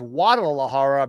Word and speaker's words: Guadalajara: So sometimes the G sound is so soft that when spoken, it disappears. Because of that, though, BC is actually fire. to pronounce Guadalajara as Guadalajara because in natural speech, that is essentially how the word sounds.